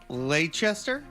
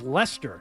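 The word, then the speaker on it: Leicester: Lchester. Lchester. I think this one is just pronounced Lester.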